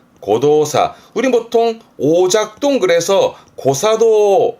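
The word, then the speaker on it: 誤動作: 발음은 고도사.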